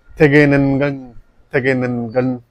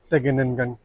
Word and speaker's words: Tegenungan: It's called Tegenungan waterfall.